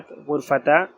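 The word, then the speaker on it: غرفة: अगर हम इसके ऊपर कोई हरकत प्रोनाउंस नहीं कर रहे तो हम इस राउंड ता की साउंड को हा से चेंज कर देंगे। हम इसे पढ़ेंगे गुरफ़ा।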